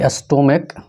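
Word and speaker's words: stomach: जैसा कि एग्जांपल्स देखिए कि रहे कि स्टोमक, क्या रहे, स्टोमक। स्टोमक का मतलब होता है पेट। ये क्या है, इसका उच्चारण क है।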